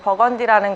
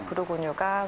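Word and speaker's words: Bourgogne: 네, 버건디라는 거는 영어식 발음이고요. 부르고뉴가 맞는 발음입니다.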